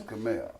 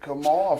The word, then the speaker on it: Kaamel: expect you to know my name is Kaamel. Yeah. Oh, okay. So And it's spelled with an M, an E, and an L. So where the fuck they get Kamal from is beyond me.